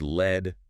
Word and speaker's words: lead: And pronounced led rhyming with bed. That's the heavy metal.